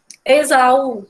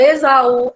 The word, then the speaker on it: Esaú: O caso da palavra Esaú, lá embaixo tem a palavra Esaú, né? É a mesma situação, né? Se a gente fosse separar a palavra Esaú, ficaria Esaú, né? São 3 sílabas.